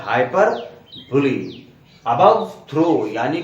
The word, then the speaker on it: hyperbole: इसको बोल देते हैं हाइपरबोल। लेकिन इसका सही उच्चारण हाइपरबोल नहीं है बच्चों, इसको ध्यान रखिएगा दोस्तों। इसका करेक्ट प्रोनाउंसिएशन है हाइपरबोली, जो कि ग्रीक, एंशिएंट ग्रीक ओरिजिन का एक वर्ड्स हैं, दो वर्ड्स जिनका यूनियन